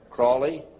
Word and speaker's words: Crowley: learned about with Alistair Crawley he likes to be have his name pronounced Crowley to rhyme with holy and the satanists today